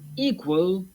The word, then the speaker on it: equal: With equal, the stress is on the first syllable.